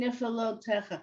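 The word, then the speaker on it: נפלאותיך: Okay, nif, low. So you put the low together? Oh, I see what you're saying, niflotecha. Wow, yeah. They run it together.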